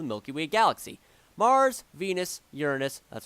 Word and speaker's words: Uranus: planets of the Milky Way galaxy Mars Venus Uranus that's how you pronounce it Pluto which was a consider two